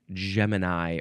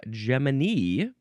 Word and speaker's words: Gemini: It's the word Gemini or Gmany. Um, some people also say Gman with a hard G sound and that makes sense.